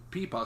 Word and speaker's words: pipa: from china she's an amazing player and she pronounced it pipa so i was like okay now i know